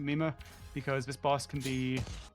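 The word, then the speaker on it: Mimir: And it's spelled like M-I-M-I-R. So I don't know how it's actually pronounced, but I pronounce it Mima because this boss can be a run killer sometimes.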